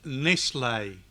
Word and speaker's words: Nestle: 26th edition I can't I'm not gonna pronounce it wrong it's nice lay its mislay not chocolate it's mislaid now saying the